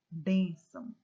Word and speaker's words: bênção: Vejam que a palavra, que a sílaba mais forte é a penúltima sílaba. Olha aqui, ó. Bênção.